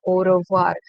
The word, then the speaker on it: au revoir: will use this word au revoir. AU. O AU is pronounced with the sound O.